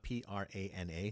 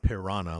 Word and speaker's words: prana: And prana, Prana, not piranha like the fish, but prana.